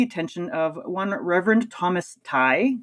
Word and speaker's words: Tighe: but for the attention of one Reverend Thomas Tighe. It's pronounced or sorry, it's spelled t i g h e, but it's Thomas Tighe.